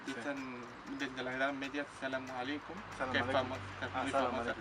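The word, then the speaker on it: السلام عليكم: Y después, si no, en todos los países árabes, como son musulmanes, pues dicen desde la Edad Media Salamu alaikum, que es famoso, muy famosa.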